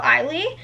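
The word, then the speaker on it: Ihli: The next book we have is by Noelle Eiley, and that is how you say her name.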